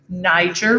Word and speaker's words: Niger: along the niger river it's important to pronounce that correctly niger river which is here in